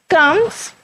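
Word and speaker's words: combs: Articulate the words having a silent B, उन्होंने कहा है कुछ ऐसे वर्ड हैं जिनमें बी की आवाज़ साइलेंट होती है। बच्चों साइलेंट हम लोग कहते हैं जिनमें हम लिखने में वर्ड यूज़ करते हैं लेकिन बोलने में वर्ड यूज़ नहीं होता। कम्स, थम।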